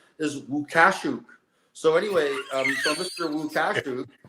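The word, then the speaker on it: Lukaszuk: She actually has advised me that the correct way to pronounce Thomas Lukasik's name is Łukaszuk.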